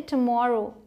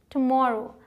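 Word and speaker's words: tomorrow: अब यहाँ मैंने टू नहीं लिखा है क्योंकि जब आप जल्दी से प्रोनाउंस करते हैं तो आवाज़ जो है ऐसी निकलती है, टुमारो, ठीक है। तो ऐसे बोलेंगे तो आप सही प्रोनाउंस कर पाएंगे, मतलब आने वाला कल,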